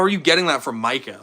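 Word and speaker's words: Mykah: For anyone that doesn't know, it's Micah, M-Y-K-A-H. Somehow teachers and subs will always pronounce it as Micaiah. I truly have no clue where they're getting a whole extra, what would that be? A whole extra syllable from?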